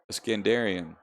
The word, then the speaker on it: Escandron: Escandron. Escandarian. That's it. Escandarian. We got it.